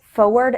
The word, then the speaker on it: forward: in words like surprise forward and February this error is probably caused by the fact that when speaking fast we often don't pronounce the R surprise forward February listen to how they